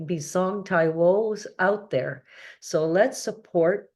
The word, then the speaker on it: Taiwo: it's b i s o n so it's pronounced bong and Taio is t a i wo so if you